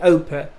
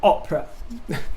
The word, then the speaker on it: Oprah: it oprah but uh i remember my great grandmother used to call her opera but i think that was just because she used to read the name in the papers rather than watch her on the television but come on i